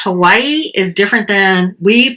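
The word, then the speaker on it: Hawaiʻi: Whenever you see that apostrophe, it's almost like another syllable. You take a pause and then enunciate the last syllable or vowel. And so it's like Hawaii is how he was saying it.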